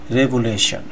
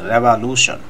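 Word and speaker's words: revolution: করেন, এখানে দেখেন লুশন, আর এটা বলবেন রেভা, নট সে রেভুলেশন।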